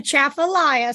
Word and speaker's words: Atchafalaya: The natural beauty, and I want to still do, am I going to pronounce this right? Atchafalaya? I need to go back to Louisiana. I've been gone for a few months. You did good. It's a Atchafalaya.